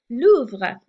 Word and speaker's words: Louvre: In Britain, they'll call it the loo for short. So make sure we hear Louvre, and that was a long story to get you to pronounce Louvre correctly.